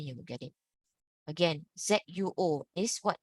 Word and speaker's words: zuo: Again, ZUO is what?